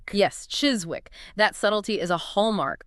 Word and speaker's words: Chiswick: You might expect the ez sound of hiss. But the source points out that in the local pronunciation, the ez is often vocalized, which means it sounds closer to a ziz sound.